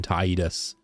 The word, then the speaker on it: Tidus: same number of syllables, I feel like Tedus is easier to say than Tidus. It's like I got to kind of briefly pause between Tide and us, whereas Tedus is like Tetus and then Tidus.